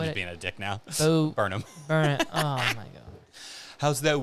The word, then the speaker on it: Burnham: like Adam Sandler a little bit, or Bo Durham. That's not how you say his name. I'm just being a dick now. Burnham.